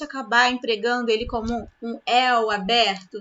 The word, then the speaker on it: el: Como a maioria vai naturalmente acabar empregando ele como um el aberto. Não, ele não é aberto, ele é fechado. O som dele é fechado.